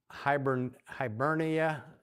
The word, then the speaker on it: Hibernia: Hibernia, all right, I think is the way it's pronounced, which is modern day Ireland.